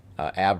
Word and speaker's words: Abbe: So right over at Ab Road, ABBE is how it's spelled.